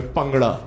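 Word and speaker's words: bhangra: I will show you how to do the pangra. By the way, pangada, that's the correct pronunciation.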